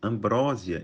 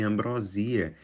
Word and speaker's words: ambrosia: que pronunciamos uma palavra muito provavelmente você já falou ou ouviu alguém falar por ex exemplo Ambrósia em vez de ambrosia que é uma sobremesa típica da culinária portuguesa áv em vez de